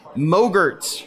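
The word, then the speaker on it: MOGRT: or we call them Moe Gertz for short rhymes with yogurt and Moe Gertz are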